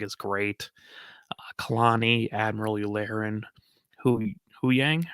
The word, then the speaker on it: Huyang: Kalani, Admiral Yularen, Huyang, right? Mm-hmm. That's how you pronounce it. I always want to go Yang, but that. It's Huyang.